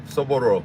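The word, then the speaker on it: soboro: o r o sooru sooro sooro sooro all these years I've been trying to say it like Spanish but I got to say it like Japanese because the way she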